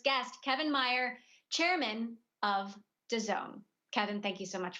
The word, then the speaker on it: DAZN: welcome our first guest, Kevin Mayer, chairman of DAZN. Kevin, thank you so much for joining us. All right, let's get started. Please join me in welcoming our first guest of the day, Kevin Mayer, chairman of DAZN.